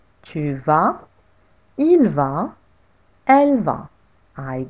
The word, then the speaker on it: tu vas: Tu vas. You go. With a silent S at the end.